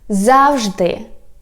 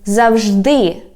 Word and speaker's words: завжди: The next word is завжди, or you can say завжди, and it means always.